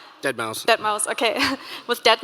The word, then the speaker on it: deadmau5: you say his name that number five dead mouse that mouse okay with